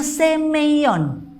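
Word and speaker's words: σημεῖον: Yunani ini mukjizat ini ada huruf Yunani yang dibacanya semeion artinya adalah tanda jadi ada deh mukjizat ini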